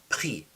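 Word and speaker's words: pris: I took pre p r i s jri. The s is silent. Jri is I took to read.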